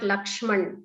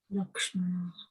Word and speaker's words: Lakshmana: Similarly, not Lakshman, it is Lakshmana. Lakshmana. Ashwamedha, Kaushalya, Rama. It's like that. Sanskritam is, you should pronounce like that.